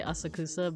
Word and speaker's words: Asakusa: to this place called Asaka it's that's that's a little bit more how it's supposed to be pronounced but um you could also just say asakusa but I think it's more more so like Asaka um we went to